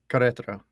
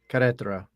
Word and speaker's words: Querétaro: I still don't know how to pronounce that. It's Querétaro. Querétaro.